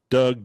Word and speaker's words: Dug: It's spelled differently than Doug Cornfield. It's spelled D-U-G. Doug, D-U-G, for the dugout movement.